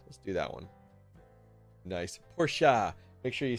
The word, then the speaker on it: Porsche: The E is not silent. It's called Porsche.